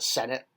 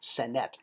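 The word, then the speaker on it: Senet: you can still buy not like American like the like the Senate it's Senate s NE T so it's a fun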